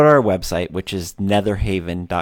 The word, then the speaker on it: Netherhavyn: our website which is nether Haven calm and it's spelled with a Y in there so it's an e th er hav Y n calm or of course